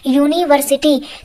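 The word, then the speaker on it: university: शुरू हुआ है, परंतु इसका हम लोग हिंदी में उच्चारण बोलते हैं तो यहाँ पर यू को हम लोग या से यग बोलते हैं, यूनिवर्सिटी। क्या बोलते हैं? यूनिवर्सिटी। तो यहाँ पर या से यग से हमारा उच्चारण शुरू हुआ है, और जो या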